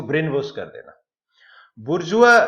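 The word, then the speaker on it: bourgeois: जैसे बुर्जुआ, इसका प्रोनाउंसिएशन अलग है, बुर्जुआ।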